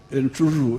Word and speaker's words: Entruru: There is Entruru, which Waguma was not pronouncing well. Entruru.